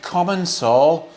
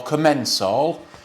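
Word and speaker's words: Commencal: lovely shiny uh e-bike common Soul or commensal or however you want to pronounce it I pronounce it comments all it's a lovely bike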